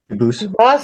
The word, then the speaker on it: Dubus: I know a family with the same exact spelling in America, and they do pronounce it Dubus, but you said you pronounce it Dubus, as the original. Dubus, as the original French.